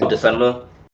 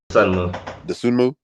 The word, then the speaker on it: Dosunmu: And then I don't even know how to pronounce his name. The guard, what's his name? Ayo from Illinois. What's his name? Dosunmu. Say it again. Dosunmu.